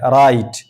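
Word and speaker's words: write: जैसे राइट राइट यहां देखिए आर से पहले डब्ल्यू है। तो अब ये डब्ल्यू खामोश है। राइट।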